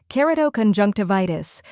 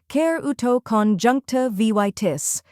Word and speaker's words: keratoconjunctivitis: The correct pronunciation is keratoconjunctivitis. First, we have kerato, where ker rhymes with care, is a soft sound, and toe sounds like toe.